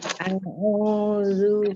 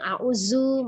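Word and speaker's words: أعوذ: Nah, kemudian yang banyak mengalami kesalahan adalah ketika pengucapan huruf zalnya ya. Jadi banyak yang auzu masuk ke zai atau audu masuk ke huruf dod gitu ya. Tapi sebenarnya di bacaan taut itu adalah huruf zal ya.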